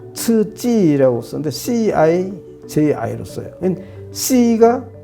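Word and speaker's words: 刺激: QIZI를 알파벳 아무리 잘하는 사람한테 읽으라고 그래가지고 100명 갖다 놓으면 다 치즈라고 읽을 사람 한 명도 없어요. 그 다음에 이건 자극이라는 건데 이거는 더 츠찌라고 쓰는데 CIJI로 써요.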